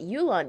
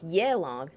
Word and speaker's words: Yelan: I was pronouncing it Yulon. No, it's Yelong. Okay. Well, thank you for correcting me, Yelong.